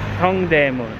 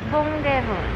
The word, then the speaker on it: Dongdaemun: Dongdaemun. Dongdaemun.